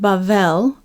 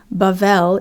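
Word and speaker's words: בבל: Which in Hebrew we'd pronounce it 'bavel' - 'bavel' is the name of the city, because there Yahweh 'balal', he 'balals' the languages of 'bavel'.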